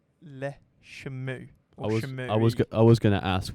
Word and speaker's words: Le Chameau: They are pronounced as Le Chameau.